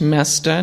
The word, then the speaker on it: Moesta: It is pronounced Moesta, not Moesta or or Moesta or any of the other possibilities.